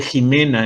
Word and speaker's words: Jimena: Por ejemplo, el nombre Jimena en español podrás escribirlo con X, podrás escribirlo con J, pero nunca será Ximena en español, ¿sí?